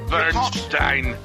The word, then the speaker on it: Burstein: and source material history doctor Burstein bu rst ein will be pronounced as the following - Bernstein okay doctor first Eve